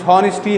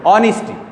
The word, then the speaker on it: honesty: Some students are pronouncing as honesty. Honesty is wrong. No, honesty.